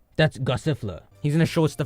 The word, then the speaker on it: Gossifleur: Gossifleur. Gossifleur.